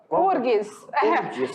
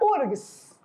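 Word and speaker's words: UFRGS: Rio Grande do Sul, mas o F na hora da pronúncia é mudo, não se fala. Então a gente já passa direitinho para o R. Então fica URGS.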